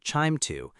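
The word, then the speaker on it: QIIME 2: We often use QIIME2, usually pronounced QIIME2, to carry out this analysis.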